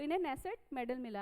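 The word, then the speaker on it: Knesset: speaker of द नेसेट medal किसे मिला है, यहाँ पे के होता है बट के साइलेंट होता है, नेसेट मेडल ये किसे मिला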